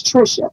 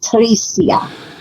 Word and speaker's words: Tricia: it pronounced as such my name is Trisha it's not Teresa so how did how